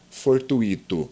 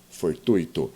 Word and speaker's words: fortuito: você lembre bem que não se pronuncia fortuito Ok pronunciamos fortuito e agora você sabe por quê Porque é um ditongo e não é um hiato muito bem ok pessoal